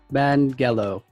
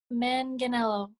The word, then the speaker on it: Manganiello: our first mixed filipina guest please welcome mangelo hello you just told me too and i messed it up it's too long could you pronounce it for us then since he messed it up yes manganello ah i messed that part manganello sorry yeah